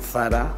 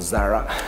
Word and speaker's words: Zara: I'm sure everybody's familiar with Zara or Zara, pronounced in English, Zara in Spanish.